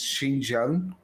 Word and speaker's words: Xinjiang: Is Xinjiang, right?